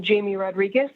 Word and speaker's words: Jamie Rodriguez: now good evening chair and committee i am jamie rodriguez that's spelled j-a-m-i-e-r-o-d-r-i-g-u-e-z i'm the government affairs manager for